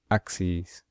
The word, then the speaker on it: axes: So we pronounce it e's at the end. Axis, axes.